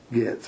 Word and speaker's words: Getz: Gets. Guess. Gets. Let me look at it. The O is silent. Okay. Getz.